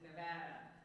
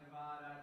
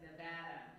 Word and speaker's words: Nevada: don't say well first of all y'all it's Nevada not anything else not Nevada not it's Nevada okay bad Nevada so get that right and